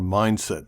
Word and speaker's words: MindST: going to look at MindST drums, or Mindset drums, or MindST drums. I'm not really sure on the exact pronunciation. A lot of people calling it Mindset, so we're going to go with that.